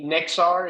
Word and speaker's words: Nexar: makes every and by the way let me nexar am I pronouncing that correct okay good just make it